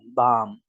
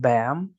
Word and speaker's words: bam: eating for example so you really have to open your mouth that awesome bomb it is not bam you will hear some